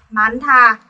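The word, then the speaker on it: 많다: Cặp này vẫn phát âm theo phụ âm trước, đúng không ạ? Phụ âm niên. Tuy nhiên, chữ hiết nhảy ra đằng sau, gặp chữ ti cứt và biến ti cứt thành thiết. Mình đọc là mán thà.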